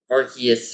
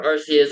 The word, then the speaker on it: Arceus: Today we are going to be doing Legends Arus or Archus or AR what like however you pronounce it there like there there's been a lot of stuff how you pronounce it either Arus Archus or Arcus. I say Arus.